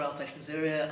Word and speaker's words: Alpesh Maisuria: Alpesh Maisuria.